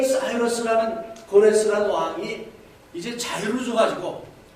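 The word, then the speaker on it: Cyrus: 그때 페르시아의 왕, 우리 한국말로는 고레스, 영어식 발음은 사이러스.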